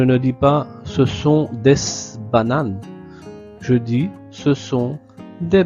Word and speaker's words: bananes: Remarquez ici, la S de D ne se prononce pas.